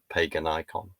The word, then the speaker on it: Paganicon: recent research trip to I'm going to pronounce it as pagan icon.